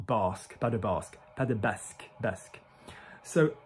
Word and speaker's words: pas de basque: So, pas de basque, basque, not basque, pas de basque, pas de basque, basque. So, basque is the French pronunciation of the region, which is between France